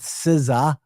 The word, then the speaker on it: SZA: The Grand National Tour with Siza. Siza is spelled Sza.